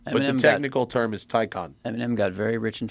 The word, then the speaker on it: Taycan: But yeah, Enrico Palazzo wants to know how Taycan is pronounced. It's pronounced Taycan.